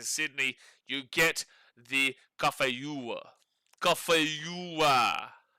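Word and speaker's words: cà phê dừa: Cafeua. And you say it like that, cafeua.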